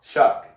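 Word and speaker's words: Shough: Shuck is how you say his last name, I believe. Is that right? That sounds right.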